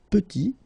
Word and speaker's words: petit: And then we get petit. Il est petit, elle est petite. Okay, exactly the same idea. Final T is not pronounced, and then when you